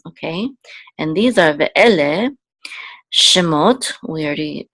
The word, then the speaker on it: Shemot: this will say mot, Shemot, and this is the accent or trope mark here, this pashta, so we know that the accent of the words on the last syllable, Shemot, these are the names.